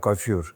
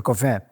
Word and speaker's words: coiffure: So he said, coiffure. I used to call it coiffure. And he said, no, coiffure. And I said, I used to visit that.